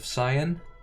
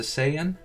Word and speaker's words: Saiyan: about the pronunciation of Saiyan, because the original Japanese is Saiyajin, right? So it's definitely Sai, not Sei. But the dub made it into Saiyan for localizations.